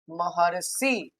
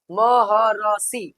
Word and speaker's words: महर्षि: लिख के कैसे लिखेंगे महर्षि ऐसे महर्षि बीच में ही र का उच्चारण होगा दिया हुआ है बाद में लेकिन उच्चारण क्या होगा पहले ही होगा वर्ण के पहले ही होगा महर्षि है ना उच्चारण कर